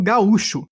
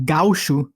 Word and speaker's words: gaúcho: como no Uruguai né mas aí como Gaúcho né a sílaba tônica é um pouco diferente a origem desse termo